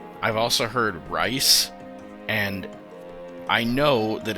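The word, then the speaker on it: Rhys: with this because I've always called this character riss I've also heard rice and I know that it's actually pronounced Rees um and okay my favorite baseball team has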